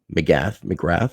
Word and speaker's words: McGrath: has an individual by the name of Joanna McGrath, how you say it?